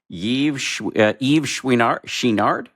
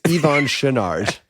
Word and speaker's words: Yvon Chouinard: I'm going to mangle the pronunciation of his name. Is it Yewar Shinard? You You did indeed mangle it. It's Ivon Shinard.